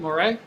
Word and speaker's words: Moret: that's it theon's out of the game roger moray am i pronouncing that correctly dan moray correct roger moret roger moret is in the